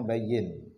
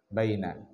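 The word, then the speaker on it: بيّن: tafadol asoal khamis bayyin ini bacanya bayyin lain Baina bayin fadal naklati waarokatiha Jelaskanlah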